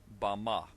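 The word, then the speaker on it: במה: in the Strong's Hebrew Dictionary, and it is pronounced Bama.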